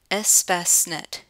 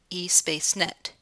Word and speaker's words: Espacenet: international patents database as Fastnet yes it's actually pronounced s Basnet not a space net it's important to note that unlike other databases